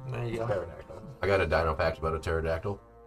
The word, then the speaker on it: pterodactyl: Spelled with a P, not a T. There you go. Pterodactyl.